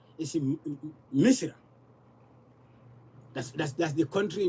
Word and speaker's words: Misr: Misr.